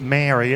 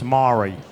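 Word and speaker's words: Māori: They're training me up on, instead of Maori, it's Maori. You know, things like that. They've got more pronunciation of rolling this R as well.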